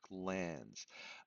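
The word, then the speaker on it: glans: Notice how it's spelled, right? Not g ls like a gland, right? There's no d. It's glands.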